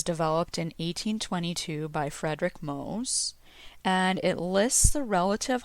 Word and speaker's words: Mohs: safely cleansed in water this is where the mohs hardness scale comes in and it's spelled m-o-h-s this scale was developed in 1822 by frederick mose and it lists the relative hardness of various